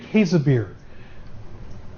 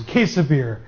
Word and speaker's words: Käsebier: Am I close on that? Oh, our German student is not here. I was going to try my German pronunciation. I've learned it. I've learned it a couple of different ways. Käsebier is the way I've kind of settled on.